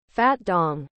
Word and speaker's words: Fat Don: Fat Don. Pronounced, Fat Dong.